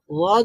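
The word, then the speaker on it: ض: ওয়াদ উচ্চারণ করার সময় যেমনটা আমরা বললাম যে এই যে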